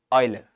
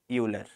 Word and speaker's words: Euler: Now what happened then 100 years later Oiler comes his name is pronounced Oiler it's not Euler right so whatever Oiler